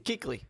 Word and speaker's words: Kuechly: Morris Claiborne Luke Kuechly is it keakley or kukley keekly keekly I did say right usually I say it